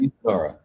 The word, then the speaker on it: Mizunara: So I was gonna ask about what pronunciation, Mizunara. Yeah, Right? Mizunara.